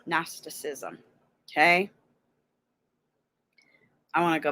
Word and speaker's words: Gnosticism: It's the teaching based on, okay, now if you want to know how it's pronounced, here, sorry, Gnosticism. Gnosticism.